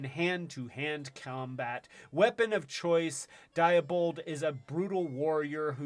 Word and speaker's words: Diabol: malara's most trusted general diabold is a ruthless mastermind who never fails while diabol oh diabol i keep pronouncing it with the d at the end but it's diabol prefers to dictate the